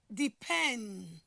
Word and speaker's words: depend: what a verb example the word depend as you can see the the stress has move from the first syllable into what the second syllable just in line with